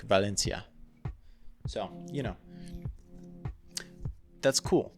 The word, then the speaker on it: Valencia: I'd pronounce it like Valencia um but apparently in Spain it's more like a like the C is more like a th as opposed to like